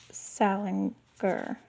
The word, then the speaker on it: Salinger: the name of Salinger so it looks like Salinger to me but it's it's Salinger Salinger Salinger so someone will have